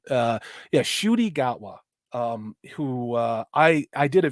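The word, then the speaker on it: Ncuti: It's Nachuti, or I don't get it. Shuti. It's Shuti, it's a Rwandan pronunciation. Yeah, Shuti Gatwa.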